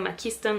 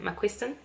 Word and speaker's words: McQuiston: puntos cinco estrellas y en el blog de la pasa diciendo machista en vez de mac winston porque me salió louis para no hablante pero se pronuncia macuixtle team mandes a whitman